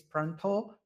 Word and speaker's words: Pranta: So I know that the way that it pronunciates is pronto, but it's not an O at the end, it's an A.